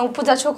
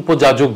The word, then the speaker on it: উপযাচক: আর একটা কথা যেটা অবাস তুমি কারো জীবনে কেন নাক গলাও না উপযাচক হয়ে বা কোন কন্ট্রোভার্সি টপকে তুমি উপযাজক শব্দটা খুব ভালো উচ্চারণ করেছো। অধিকাংশ লোকে উপযাজক বলে যাজক উপযাচক কথাটা তুমি যেটা বলে সেটা ভালো লেগেছে।